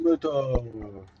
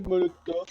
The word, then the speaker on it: Molotov: Ceux qui me diront que c'est cocktail Molotov, c'est pas enfin cocktail Molotov et pas cocktail Molotov. Sauf que c'est un S, du coup. Donc les V se prononcent F en russe.